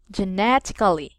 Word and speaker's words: genetically: genetically yes you're right the second syllable we will put they're distressed Jeannette genetically okay that's perfect so